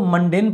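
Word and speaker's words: mundane: तो हम कह सकते हैं मुंडन यानी कि बोरिंग। तो आपको ये वर्ड याद रखना है, इसको आप वैसे तो मंडेन पढ़ते हैं, बाकी आप इसको मुंडन पढ़ लेना, कौन सी आपकी प्रोनाउंसिएशन का टेस्ट हो रहा है।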